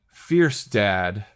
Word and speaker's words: Fjerstad: Fierce Dad. Great handle, by the way. I love that handle. Thank you. It's just because that's what my last name sounds like when you pronounce it.